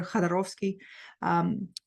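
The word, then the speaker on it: Jodorowsky: This book by Alejandro Jadorovsky, I should be able to pronounce his name because he from Russian descent, so it's Alexander Jadorovsky, Psychomagic.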